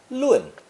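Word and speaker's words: 论: the speech radical and pronounce it fourth tone lung this combination of carefully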